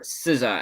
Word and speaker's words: SZA: Anyway, the real winner for favorite female artist, Sza, or Siza as it's pronounced.